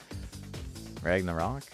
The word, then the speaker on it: Ragnarok: I don't know why I said it like that with the emphasis on like a weird syllable, but Ragnarok.